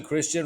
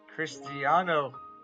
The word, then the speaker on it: Cristiano: It's also home to Christian Ronaldo. That's right, ladies. Cristiano, get it right.